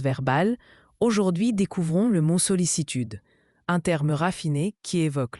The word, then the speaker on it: sollicitude: La sollicitude désigne une attention affectueuse et bienveillante portée au bien-être d'une personne. Solicitude se prononce sollicitude.